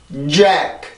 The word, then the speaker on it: Jack: 자, 사람 이름 중에 이런 발음이 있어요. 그죠? 근데 우리나라 말로 이거를 잭이라고 씁니다. 자, 영어를 읽어볼게요. Jack, Jack, Jack, 잭, 잭, 잭.